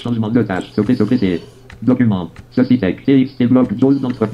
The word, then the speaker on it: Cécitek: Aujourd'hui, site de Cecitech. Cecitech s'écrit C-E-C-I-T-E-K.